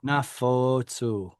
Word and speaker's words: נפצו: That's a holam that is stressed. Anafotsu. Nafotsu.